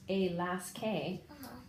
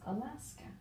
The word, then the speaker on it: Alaska: and read that forward yeah so it's not pronounced a last K it's Alaska okay very good go ahead and erase that